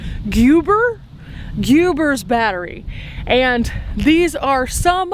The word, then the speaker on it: Guibor: Now here we get to what I think is pronounced Guibor's, G-U-I-B-O-R. Guibor? Guibor's battery.